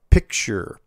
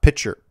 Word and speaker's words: picture: Picture. Pronounced picture, not pitcher.